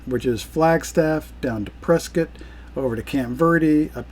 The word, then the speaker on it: Prescott: It looks like Prescott. It does look like Prescott, but the locals call it Prescott. Yes, they do. Like a press kit.